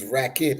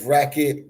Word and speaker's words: Racket: It's racket. Okay, okay. It's racket like tennis.